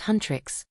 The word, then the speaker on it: Huntr/X: The movie follows the fictional K-pop girl group Huntr/X, pronounced Huntrix, who have been tasked with defending the world from demons.